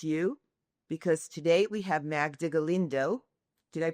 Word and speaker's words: Magda Galindo: So excited to be with you because today we have Magda Galindo. Did I pronounce that correctly? You did. Thank you. So excited to be with you today because today we have Magda Galindo from the FAR Foundation, which is the foundation